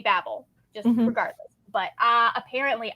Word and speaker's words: Babel: the story of Babble which no one in their right mind says Babel as as Babel when it's B A BBL l e so like in my mind it should always be Babel just regardless but uh